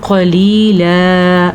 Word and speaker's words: قَلِيلًا: قَلِيلًا، موٹا قاف اور لام 2 زبر لن سے ایک زبر جب بن جائے گا تو قلیلا ایسا پڑھا جائے گا.